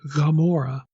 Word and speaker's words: Gomorrah: then mem gaian the the other hebrew consonant that has that ga sound like gomorrah is actually not spelled with hebrew g gimel it's spelled with vain gamora it has that back of the throat g sound so klein's like well